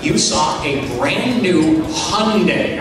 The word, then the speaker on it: Hyundai: When you walked into our banquet facility here in Bolingbrook, you saw a brand new Hyundai, all right? Rhymes with Sunday, all right?